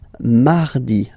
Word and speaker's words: mardi: You don't move your tongue, so it doesn't sound like mardi, no. It's really soft, mardi, mardi, mardi, okay?